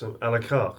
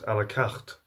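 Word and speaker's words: à la carte: yeah that's fine dining that's alakar alakat it's pronounced in the English way um and that's how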